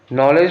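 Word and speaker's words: knowledge: अब ये देखो नॉलेज है, नॉलेज में हम लोग के का प्रोनाउंसिएशन नहीं करते, NOW का करते हैं, LE का करते हैं, डी का फिर से नहीं करते हैं।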